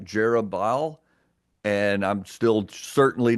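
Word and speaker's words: Jerubbaal: me pause really quick a lot of times we might pronounce that name jerub jeruel uh it's probably more like jobal and I'm still certainly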